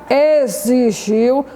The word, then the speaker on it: exigiu: Então, as letras S, X e Z, todas elas nessas palavras, exatamente, é um X, mas tem um som de Z.